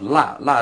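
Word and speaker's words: 落: But here it's pronounced la is to forget something to leave it.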